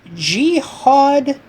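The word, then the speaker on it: Jihaad: So, with that being said, we address that inside linebacker problem with Jihad Campbell from the University of Alabama. You didn't pronounce a Jiad. Jiad Camp multiple A's. Multiple A.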